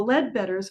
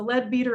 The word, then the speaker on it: Ledbetter: It was known as the Ledbetter House because the Ledbetters had been renting it. And notice how I pronounce Ledbetter. So everyone here thinks it's the Leadbeater Apothecary.